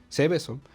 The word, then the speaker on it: Seveso: Este segundo caso se trata, o más bien es llamado Seveso, con S. Ceveso, Seveso. Y es que Seveso, perdón, con acento en la E, primera E, Seveso es un pequeño pueblo italiano, un municipio.